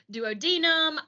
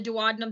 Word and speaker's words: duodenum: Your duodenum, and I've heard people call it the duodenum. I've always heard it called the duodenum. That's how I'm going to pronounce it, but you pronounce it whatever way you'd like.